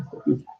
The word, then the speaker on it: astrofísica: Astro y física, y el acento iría en la segunda parte, astrofísica.